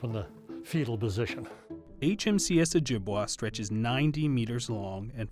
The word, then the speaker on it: Ojibwa: Okanagan, the Onondaga, and the Ojibwe, although since most people pronounce the vessel as Ojibwa, we say Ojibwe are the people. Ojibwa is the vessel.